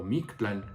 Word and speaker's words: Mictlán: contaron a él acerca del mictlán o mix plan como sería la pronunciación correcta dice así capítulo uno de los que iban al mictlán que aunque había aunque